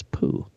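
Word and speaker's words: Pu: Haitong International analyst Jeff Poo, and yes, I looked up how to pronounce that. It's Poo.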